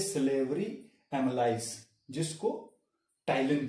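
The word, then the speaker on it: ptyalin: Okay, salivary gland secrete करते हैं टाइलिन, P silent है इसमें।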